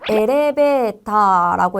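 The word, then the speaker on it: エレベーター: 그래서 엘레베타라고 해서 다 길게 발음을 해 줘야 된다는 거죠.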